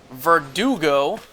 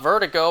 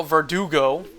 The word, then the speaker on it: Verdugo: head of Monarch Director Verdugo as it's pronounced, not Vertigo. Verdugo.